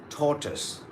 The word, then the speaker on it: tortoise: Tortoise. Tortoise. Now, most of us, this particular word, we say it slightly differently. But in standard British English, it goes like tortoise.